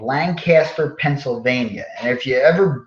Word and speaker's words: Lancaster: pronounced by those people lankster it's like there's no a in the middle lankster right it's like